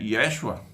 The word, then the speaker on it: Yeshua: época, né, chamado Jesus, a pronúncia em latim é Yeshua, Yeshua, o nome original de Jesus, né, vai pregar dentro do Império Romano e vai...